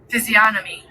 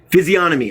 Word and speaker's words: physiognomy: I think it's physiognomy. I can't say it. Right back. Wrong one. Doo-doo-doo. That's a big word, everybody. I like big words. G-N-O-M-Y. Physiognomy. Physiognomy, I said it right.